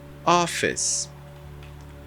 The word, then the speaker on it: office: e na língua inglesa você não pronuncia a letra E isso eu tô falando